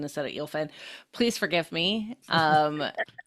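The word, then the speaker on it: Eelfinn: just says, I am Eelfin. So EEL versus AEL.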